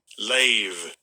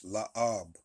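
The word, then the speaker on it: לֵב: Lave. All right, the pronunciation on this thing is off on a lot of things. All right, it's la'ab.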